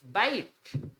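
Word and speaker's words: bite: बहुत गलत पढ़ते हैं बी एटी को बैट पढ़ा है सीटी को कैट पढा है नाउ इट्स बाइट देखो बी ईटी बैट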